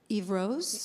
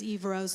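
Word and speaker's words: Yvrose: This one is, oh, how would you pronounce this? Eve Rose? Yep. Yes. Y-V-R-O-S-E. This is Eve Rose.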